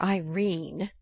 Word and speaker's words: Irene: section five coward my daughter Irene said Mrs Carr style she made it rhyme with terrine has had no social